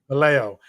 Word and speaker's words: Vallejo: Vallejo. I messed that one up. Vallejo. I tried to throw an extra syllable in there.